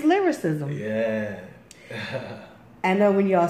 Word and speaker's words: Lilrickcism: I first seen his name I could never pronounce it right and it's lyricism yeah I know when y'all see his name